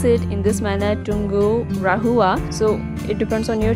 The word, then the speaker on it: Tungurahua: So I pronounce it in this manner, Tungurahua.